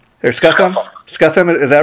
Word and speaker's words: Scufham: Am I pronouncing your name right? Or Scufham? Scufham, is that right?